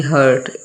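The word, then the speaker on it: heart: हार्ट क्यों पड़ते हैं? र तो साइलेंट है। और जो अ है वो लंबा हो जाता है। लॉन्ग हो जाता है।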